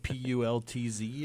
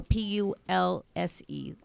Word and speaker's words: Pulse: Pulse, like Pultz or no, Pulse. Like as in pulse.